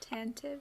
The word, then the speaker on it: Tantive: It's t a n t i ve. Yeah. Schuma Joe. Um, so tantive.